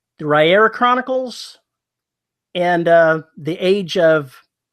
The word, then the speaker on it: Riyria: Well, it's actually pronounced Rhaenyra. Dang it. As in Sorry. rye, the bread, ear, the body part, and that's how you say Rhaenyra.